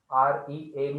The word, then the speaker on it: read: R E A D ම තමයි ලියන්නේ. හැබැයි මේක pronounce කරන්නේ read කියලා.